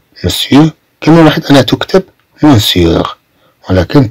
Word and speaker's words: monsieur: كما واحد أنا تكتب monsieur. ولكن تنطق monsieur, monsieur.